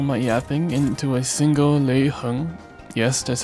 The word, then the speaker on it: Lei Heng: can fit all my yapping into a single Lei Heng, yes, that's how you pronounce it, fight.